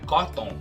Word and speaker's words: cotton: Isso me lembra uma outra palavra parecida com essa, que também tem o O mudo e é pronunciada errada direto. Algodão. Como é que a gente fala o algodão em inglês? Não é cotton, é cotton.